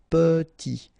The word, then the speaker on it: petit: Très petit, final T not pronounced, and then E is pronounced like a E, petit, très petit.